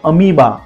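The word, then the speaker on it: amoeba: पी एल E then अमीबा अमीबा का spelling ध्यान से देखिए ए एम ओ ई बी ए यहां पर ओ के बाद ई आ रहा है हमने ओ को साइलेंट रखा है अमीबा then leopard Jeffers and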